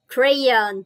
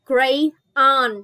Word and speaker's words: crayon: Mình sẽ đọc là crayon, chứ mình không đọc riêng là crayon. Nhớ đọc nối lại, crayon, crayon, crayon.